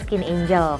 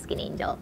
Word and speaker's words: Skin 1004: Terus mungkin pada bingung kenapa Skin 1004 ini dibaca Skin Angel, karena 1004 atau yang artinya Cheonsa itu artinya adalah angel dalam bahasa Korea. Jadi buat kalian yang masih belum tahu gimana cara baca Skin 1004 ini, bacanya adalah Skin Angel.